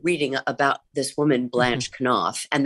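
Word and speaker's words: Knopf: about this woman Blanche can off and that is how you pronounce it, I thought it was not enough publishing its can off.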